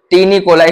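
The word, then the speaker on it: taeniae coli: इसको बोलते हैं फ्रेंड, जो 3 स्ट्रिप हैं, ये वाली 3 स्ट्रिप, इसको बोलते हैं टीनिकोलाई। इसकी स्पेलिंग भी तगड़ी है, इसकी जो स्पेलिंग है TAENIAE, कोली, ये बोलते हैं इसको टीनिकोलाई बोलते हैं फ्रेंड इसको।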